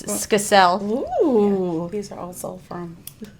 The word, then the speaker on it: Skacel: No, it's Skacel.